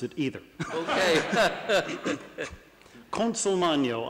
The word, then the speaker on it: Consolmagno: Consolmagno, I'm told, is the Italian pronunciation.